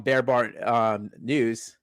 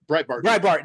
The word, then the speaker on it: Breitbart: I read something on Bear Bar News. I guess that's how you say it. Anyway, Bear Bar News. I mean, I'm like, how do you say that name? Breitbart. Thank you. Breitbart.